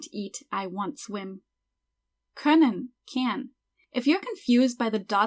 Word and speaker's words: können: Anyway, that O with the dots is an umlaut and it's pronounced Ö. So können.